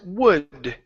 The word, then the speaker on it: would: So, this word is would right here. That's would instead of wood. Okay. The L is silent.